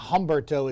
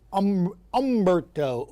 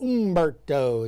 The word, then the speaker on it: Humberto: And then you have it's not Humberto. It's umbberto. Ombbertos is how you say it.